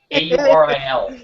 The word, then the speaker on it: Auril: Sorry, Auril. A-U-R-I-L. That's some very important pronunciation. Auril. Auril.